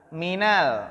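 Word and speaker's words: مِنَ ال: dan amal minalinsky Rofi Perhatikan cara bacanya kalau mint bersambung dengan alif lam Hai bersamaan dengan Abah alif lam maka kita bacanya bukan mint al-insyirah tapi apa Minal Hai Minala lah di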